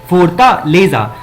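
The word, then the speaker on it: Fortaleza: इसको हम लोग हिंदी में क्या प्रोनाउंसिएट करेंगे? फोर्टालेजा।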